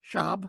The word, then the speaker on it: Schaub: Am I saying it right? Schaub? Yes. Okay. Schaub.